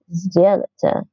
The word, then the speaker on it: сделайте: So s is unvoiced, d is voiced, z is voiced, and so this would morph to z to match the voicing, and it makes it easier to pronounce. So сделайте это задание.